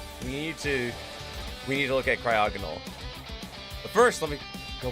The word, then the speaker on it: Cryogonal: Cryogonal, I believe is how it's pronounced.